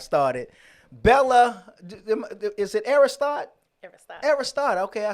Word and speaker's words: Aristote: Aristotle.